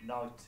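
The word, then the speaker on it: knight: Is it same, the alif, is it same as in English when you have like a silent letter like night, like a night that fights K-N-I-G-H? Yes. The K is silent.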